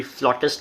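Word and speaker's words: flutist: कुछ लोग फ्लूटिस्ट बोलते हैं, कुछ लोग फ्लॉटिस्ट बोलते हैं. तो मैंने इसको एक्चुअली डिक्शनरी में चेक किया और गूगल पे इसका प्रोनाउंसिएशन भी चेक किया कि कौन सा वाला सही है. तो दोनों सही हैं.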